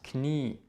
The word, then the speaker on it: Knie: hier wird nicht ausgesprochen es hat die eigenschaft dass sie lange auszusprechen zb das knie es ist nicht klar es ist das knie dieses wird lang ausgesprochen was auch sehr sehr